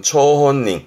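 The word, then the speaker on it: 張本人: 발음은 초혼닝, 초혼닝.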